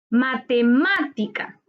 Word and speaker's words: matemática: las estructuras se tildan matemática matemática es una palabra esdrújula su sílaba tónica está en más ante penúltima sílaba se tilda porque todas las esdrújulas se tildan cortina cortina es una